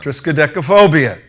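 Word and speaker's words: triskaidekaphobia: And we do have you did pronounce it correctly, Tom. Triska-Deka-Phobia.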